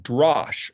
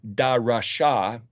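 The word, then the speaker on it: דרש: which is the word DRSH, which would be pronounced Drash or Darasha.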